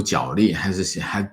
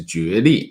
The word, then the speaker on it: 角力: 我们喜欢读角力，但是正确读音应该是角力啊。